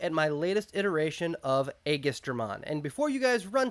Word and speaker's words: Aegisdramon: me the proper pronunciation I am settling on August Ormond everyone I have ever spoken to has pronounced the name differently I am sticking with augustermann because it is comfortable for me igestromon egistramon I don't know I'm I'm going with aegistramon so just so we're clear I am committing to that pronunciation for the duration of this video now this is a